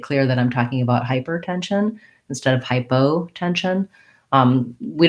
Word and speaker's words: hypertension: discipline um so for hypertension hypertension we kind of have a stress unstressed pattern here hypertension the main stress is on the 10 of tension secondary stress on the first syllable of hyper and you may find